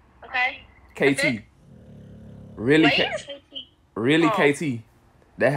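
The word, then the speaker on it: Reely: Really?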